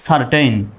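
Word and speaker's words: certain: দ্বিতীয় শব্দটা দেখুন, সি এর পরে ই আসছে, ওই একই সির পরে ই আসছে। সুতরাং এখানেও সির উচ্চারণ কিসের মতো হবে? স্বর মতো হবে। তাহলে CER, সার। সার। TAIN, টেইন। কি? সারটেইন।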